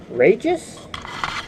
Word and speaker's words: Rageous: have next up is to Pontiac rageous that's how they pronounce it there was two versions